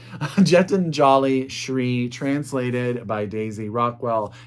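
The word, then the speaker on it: Geetanjali Shree: that's tomb of sand by Gentile uh I said it right the first time Jet and jolly SRI translated by Daisy Rockwell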